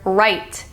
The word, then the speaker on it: write: grammar is still proper one example is the word write you don't necessarily need the W it would still sound the same if it just was r i t but instead it's w r i t right you still have to include the W in the spelling even though you're not saying it aloud another one is no